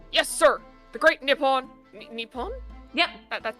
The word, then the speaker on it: Nippon: Nippon? Yep. That's how you pronounce that right.